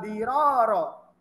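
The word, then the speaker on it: ضِرَار: La dororo wala diroro. Karena pengucapannya diroro yang keduanya ro-nya itu panjang, makanya dikasih alif.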